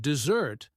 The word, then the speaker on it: desert: And dessert, the dry place, has the stress on the first syllable, D-S-E-R-T.